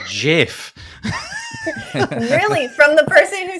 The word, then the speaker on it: GIF: get them wrong but basically it was it's pronounced jiff it's jiff really from the person who started it amazing